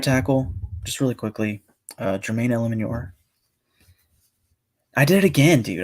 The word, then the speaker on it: Eluemunor: Jermaine Eluemunor. That is how you pronounce his name.